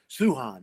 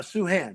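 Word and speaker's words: Sochan: it wrong on occasion but it's suhan uh sue han suhan that's it hand just take a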